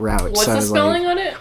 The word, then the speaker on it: route: oh oh okay see I always say it is root and not route r-o-u-g-h-t this route